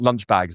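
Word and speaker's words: Lynch-Bages: fine wine, which is Lichbage. So I had lunch like aged Bordeaux. They call it lunch bags in the trade. Okay. Um pronounced in a horrible English way.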